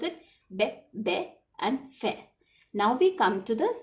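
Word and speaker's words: fée: Now, we cannot pronounce it as fee. We pronounce it as fe.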